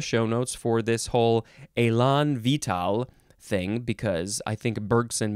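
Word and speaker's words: élan vital: is Elon Elon vital Elon now where is the emphasis I don't think there's any syllable that gets more emphasized uh this is two words the first word is exactly like the one about being vigorous and enthusiastic uh the second word looks like vital v-i-t-a-l this is a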